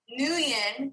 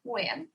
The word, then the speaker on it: Nguyen: I try, but because the NG is like you got to get it like the, and then it's like sing, right? Like the best way it was explained to me is think of sing, but take the sound at the end and put it at the beginning.